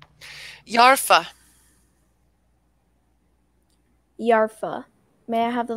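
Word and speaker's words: yarpha: Yarfa.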